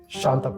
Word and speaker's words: Shantappa: How do we pronounce it? Shantappa only. Shantapa only. Yes. So I was correct in pronunciation.